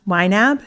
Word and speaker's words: YNAB: familiar with you need a budget which is pronounced YNAB is that right yeah that's right can you